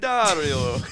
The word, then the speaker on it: Diaddario: Diaddario. No, he didn't do the Italian thing. No. But Yeah, so we pronounce it Diaddario, but I believe the correct pronunciation is Diaddario.